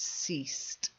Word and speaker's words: ceased: So it's ceased. Ceased. That's it. Good, good, good. Well done. So you can see it's spelt differently and the pronunciation has to be different because otherwise it's easily confused.